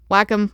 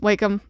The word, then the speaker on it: Wacom: in my laptop and my Wacom and whack em wake them however you wanna I'm only gonna say it right if they sponsor me because I hear people say it different all the time but I say whack Em Right and I drew